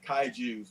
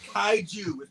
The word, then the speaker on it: kaiju: allante would it's no different than somebody saying kai jews that would actually send kyle into a frenzy rage so don't say the word kaiju it's pronounced kaiju plural i mean my one man's frenzy